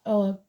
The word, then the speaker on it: Ogham: It shows the symbol of the Ogum, pronounced Ogham, which is an early form of Irish writing, so Ireland could be important.